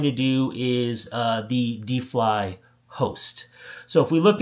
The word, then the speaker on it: Defly: uh Deli Network or defly I'm sorry I never know how to pronounce it d e fli so I guess that's defly uh the defly network which was def.